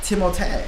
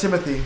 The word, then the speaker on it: Timothée: He has his name is technically like the French version. Oh, I never knew that. Timotei. Timotei. But everyone. I never knew that. Everyone does Timothy. Yeah. But I heard somebody say the right way to say it is Timotei.